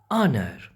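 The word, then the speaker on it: honour: देखें, ऑनर, ऑनर, H silent है, आ की आवाज़ है, आ ई ऊ, ये 3 साउंड हों तो वो वावल साउंड होता है।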